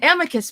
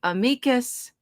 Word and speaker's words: amicus: An amicus brief, let's start with that. Uh, some people say amicus, some say amicus.